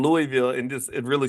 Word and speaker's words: Louisville: that you don't say Louisville or Louisville you say Louisville like you got to kind of like blur all the word blur the whole word together and kind of L Louisville it's got to come